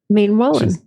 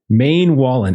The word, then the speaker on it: Maenwallen: is the name of that Noble family again main Wallen Maine Wallen and that's how we're pronouncing it so make sure yes got that